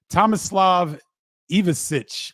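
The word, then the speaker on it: Tomislav Ivišić: Tomislav Ivicic, I believe is how you pronounce his name, from Croatia.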